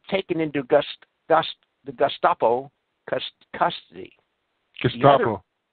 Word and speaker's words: Gestapo: Gestapo. Gestapo.